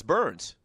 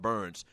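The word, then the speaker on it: Byrnes: Yeah, it's Burns. That's how you pronounce it. It's spelled with a Y, but it's pronounced Burns.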